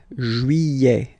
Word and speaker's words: juillet: Okay, you get this double L here. Juillet. Don't pronounce this final T, E-T here at the end.